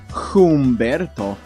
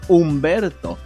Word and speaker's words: Humberto: silly also it's not it's not Humberto who would say something like that it's Umberto as if it didn't exist so I don't know why it does exist but you know it's right there it's Umberto ah W see although